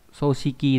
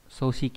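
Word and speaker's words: 組織: Thì chữ tổ này trong từ tổ chức đọc là gì đây, đọc là soshiki đây này, soshiki là tổ chức đúng nhỉ, hoặc là đọc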